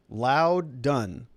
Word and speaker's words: Loudoun: Okay, so give me a word that it rhymes with. Loud and Proud County. Loudoun County, maybe? Like Loudon? All right. So RAS Illusion says, if that is true about the House, then Trump is out and our goose is cooked. Loudon. There we go. Crowdin, Loudon.